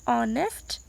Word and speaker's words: honest: Honest, H is silent here.